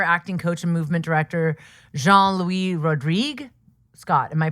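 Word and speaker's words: Jean-Louis Rodrigue: He recently wrote a book with his his friend and collaborator, acting coach and movement director Jean Louie Rodrigue. Scott, am I pronouncing that correctly?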